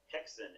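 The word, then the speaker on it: Häxan: It's called Hexen. It's a Swedish film, silent film. Okay. It's spelled Haxan. I've heard it pronounced Hexen. I'm going to assume that's right. Yeah, sounds right.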